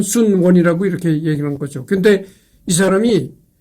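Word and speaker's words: 孫文: 한문 발음으로는 손문인데이 손문을 중국 발음으로는 순원이라고 이제 그렇게 발음하는 거죠.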